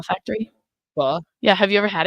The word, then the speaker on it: pho: Pho Factory. Pho. Yeah, have you ever had it? Pho. Yeah, it's like Vietnamese rice noodles. Okay. It's spelled PHO. Oh, I thought it was Pho. It's pho. Pho.